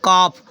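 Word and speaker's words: calf: एफ सी ए एल एफ तो होता है कॉफ कफ मींस बछड़ा होता है ठीक है य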